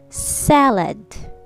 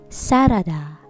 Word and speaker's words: salad: same trouble salad salad two-syllable word sa let salad not sarada sarada has three syllables but in american english it's salad all right repeat after